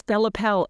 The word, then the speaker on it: Bella Pelle: Am I pronouncing the Pelle right? Yes, Bella Pelle. It depends on what part of Italy I think apparently you're from.